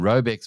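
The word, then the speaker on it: Raubex: How do you pronounce the names of those two? First of all, those two operation Robex which is a construction group and then Barber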